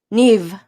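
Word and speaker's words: Niamh: daughter it's it's a it's a gaelic name neve see yeah oh neve it's beautiful i think i said it right claudia you know irish doesn't they don't use letters the same way we letters do not equate sound at all it's just crap shoot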